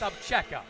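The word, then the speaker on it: Obzera: I mean, it's spelled O-B-Z-E-R-A, pronounced Abcheka.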